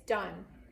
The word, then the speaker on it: done: all would say o so the word would say don't that's not done it's done like I'm done I'm all done so that's definitely a